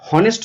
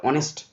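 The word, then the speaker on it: honest: এই উচ্চারণটা হনেস্ট নয়, কিন্তু এই উচ্চারণটা অনেস্ট, অনেস্ট, অ, তাহলে অ এর মতো এসছে, তাই এখানে বসবে অ্যান অনেস্ট ম্যান।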